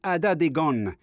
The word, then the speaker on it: Atateken: Dans la langue mohawk, prononcée Adadegon, qui signifie frère et sœur.